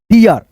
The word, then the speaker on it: deer: देखिए DEER, तो इसको हम पढ़ते हैं दोस्तों डियर, DER, डियर।